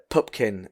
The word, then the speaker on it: Pupkin: Like when he goes up to the office and he says it's Pupkin, Pupkin. It's often misspelled or mispronounced.